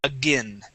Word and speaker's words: again: But when it is with an A at the beginning, the A-I-N is pronounced with a short I sound. We say again.